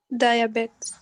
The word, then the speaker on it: diabetes: Obesity is pronounced with obesity, rheumatoid arthritis, and can you pronounce this word? Diabetes. No, it is pronounced diabetes. Diabetes, yes, BTs.